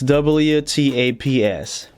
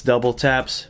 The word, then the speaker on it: WTAPS: double taps is spelled that's WT ApS W taps too many but for the learn it few it's double taps because that's how the designer wants it to be pronounced the designer